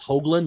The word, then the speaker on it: Hoagland: job by the way it's Hoagland not hoogling he correct me on